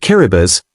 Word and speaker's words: Kiribati: Kiribati, pronounced Kiribati, is the least visited country in the world according to the United Nations World Tourism Organization.